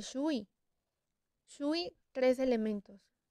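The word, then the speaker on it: 水: son orales por ejemplo en chino tenemos que así se escribe la palabra agua pero al pronunciarla se dice sui sus tres elementos y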